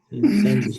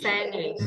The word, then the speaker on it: sandwich: But the thing is, guys, did you realize that when they are speaking sandwich, sometimes the D is suppressed, yes? All right. Sandwich. Sandwich.